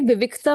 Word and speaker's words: विविक्तः: विविक्त विविक्तः विविक पहले का साउंड हां आधे क का साउंड है पहले और फिर त का साउंड है विविक और फिर विसर्ग का वृत्त से आवाज है ह की साउंड विविक